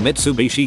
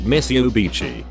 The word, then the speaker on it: Mitsubishi: mother cannot pronounce that or mitsubishi she tries but same outcome and mitsubishi comes out miss ubichi my name is